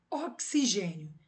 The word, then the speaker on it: oxigênio: Oxigênio, né? O X tem som de KS, então eu tenho um encontro de duas consoantes quando eu pronuncio oxigênio, beleza?